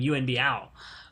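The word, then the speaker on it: Yuen Biao: this release is I finally learned how to pronounce his frickin name and became U and B ow because I speak I don't stick any Cantonese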